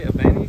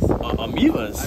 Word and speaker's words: Ameivas: We're gonna attempt to catch some of these green, how do you say, abanis? Ameivas.